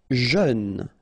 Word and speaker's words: jeune: Jeune. Final E not pronounced, but then EU together, jeune.